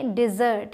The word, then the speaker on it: dessert: तो कैसे बोलेंगे? डिज़र्ट, यहाँ पे थोड़ा सा स्ट्रेस देंगे, डिज़र्ट। We wanted the डिज़र्ट, हम मिठाई चाहते थे।